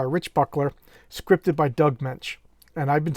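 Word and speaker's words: Moench: chuck dixon interviews and he talked about doug mensch so he worked with the guy i'll take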